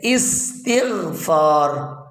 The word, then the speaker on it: استغفار: دال سا ہوتا ہے، جیسے استغفار، سین کے اوپر چھوٹا سا دال بنا ہوا ہے، استغفار، اس کو چھوٹے سے دال کو یہ سکون کی علامت ہے۔ اور اسی طرح سکون